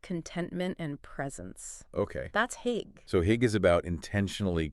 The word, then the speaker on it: hygge: Hygge, yeah. How do you pronounce that?